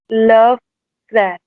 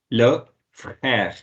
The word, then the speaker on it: frère: And how would you pronounce this? Love crash. Yeah, you're almost right. Yeah. Le frère.